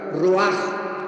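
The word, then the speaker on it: רוח: Y aquí la palabra espíritu es la palabra roach con ch, porque la ch en el hebreo se pronuncia como j roaj.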